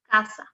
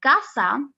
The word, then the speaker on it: casa: a rule okay so if the s is after a vowel you have to pronounce the s okay like let me give you an example casa as you can see in casa which is home or